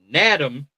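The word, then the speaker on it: Nadame: It's spelled like Madam. Nadam Tucker with an N of Western Michigan.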